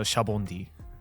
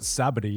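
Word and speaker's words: Sabaody: Shabondi, because it comes from the word shabondama, which means bubble. Oh. Yeah, the Japanese word for bubble is shabondama, so Shabondi. Because I was always like, why do they not pronounce it Sabity, innit?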